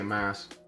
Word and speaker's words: Mas: Let's start with some questions that our guy, Mas. How do you even pronounce him? M-A-S? I just say mass.